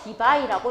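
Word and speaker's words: Debye: 쿨롬 곱하기 미터니까 D라고 쓰고 디바이라고 읽어주시면 돼요.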